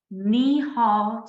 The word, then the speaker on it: Nehal: you can definitely reach me on LinkedIn with nihal I'll spell it for you it's n e h a